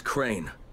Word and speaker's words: Crane: No, my name's Crane. Crane? Crane rhymes with train and brain and sane and grain and rain and plane and the other kind of plane and...